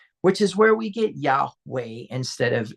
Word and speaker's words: Yahweh: But in ancient pictographic times the pronunciation was which is where we get Yahweh instead of Yahave.